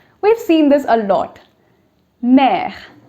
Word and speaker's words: mère: So M, E, accent grave, R, E, mère.